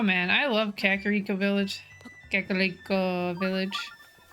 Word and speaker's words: Kakariko: Kakariko Village. I'll say it properly. You get that roll, that L sound on your R.